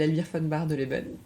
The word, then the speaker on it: Elvire Von Bardeleben: fund oui bien sûr alors que je m'appelle admire fans barre de level tu as très bien prononcer je suis journaliste au monde depuis cinq